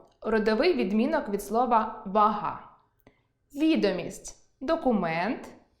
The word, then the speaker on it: відомість: – родовий відмінок від слова «вага»); вІдомість (документ) і відОмість (популярність); зАклад (установа) і заклАд